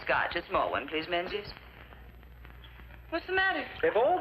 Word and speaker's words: Menzies: A small one, please, Menzies. What's the matter? If all these Atlantic packs are to go through, you Yanks will have to learn to speak the King's English. And Menzies is pronounced Mingus.